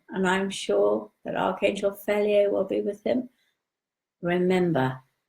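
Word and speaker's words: Fhelyai: Okay, it's Archangel Feliae, and it's F-H-E-L-Y-A-I, Archangel Feliae.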